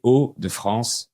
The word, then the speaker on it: Hauts-de-France: Et on prononce les Hauts sans faire la liaison.